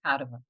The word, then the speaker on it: Padova: I was gonna ask you, is it Padua or Padova?” Orna In Ireland, we pronounce it Padua because that's how it's spelled in English, but it's actually pronounced “Padova.”